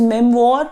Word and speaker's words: memoir: People generally pronounce it as memoir. I am saying it is memoir. Memoir is the right pronunciation of the word memoir.